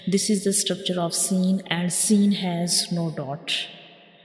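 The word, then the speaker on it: سين: When we read seen, we will stretch it for 3 seconds, and when we pronounce seen, the whistle sounds come because this is a whistle letter, like seen.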